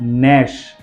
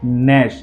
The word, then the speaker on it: gnash: Next, नैश, उसके बाद है नैश, GNASH, जी के बाद एन है, जी का प्रोनाउंसिएशन नहीं किया है, नैश।